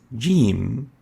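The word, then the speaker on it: ج: looks like this and is equivalent to the english g or j a very important note is to realize that the g could occasionally be pronounced as egg which has no similar letter in arabic our comparison with the english g is when the english g is pronounced as ish and not as egg like the g as in vegetable or j as in eject edge is articulating at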